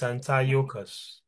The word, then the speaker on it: Antiochus: Antias. It's Antiocus. Antiocus.